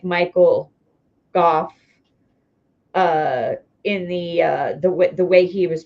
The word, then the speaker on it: Gough: It's spelled Gough, but pronounced Gough like Gof.